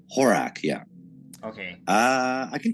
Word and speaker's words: Horak: does how do you say your last name horack horace horak yeah okay uh i can tell you about